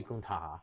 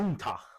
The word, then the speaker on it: Gunther: I see Gunther main eventing for next year's WrestleMania.